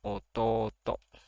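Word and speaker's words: おとうと: Dibacanya ototo. Jadi kalau to setelahnya itu ada u, itu to-nya dibaca panjang ototo.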